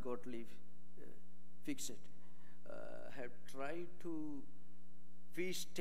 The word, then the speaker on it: Fichte: Fichte, have tried to Fichte, it is pronounced in German maybe, have tried to imply that Vedanta, Advaita, non-dualism, doesn't give importance to ethical philosophy.